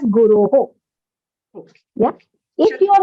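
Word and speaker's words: गुरो: So since you took a long pause at Shishurasmi Guru, then you rather pronounce it as Guroho. Okay. If your intention is to take a slightly longer pause, because of even convenience of taking a breath, then you rather consciously pronounce that visarga as Guroho.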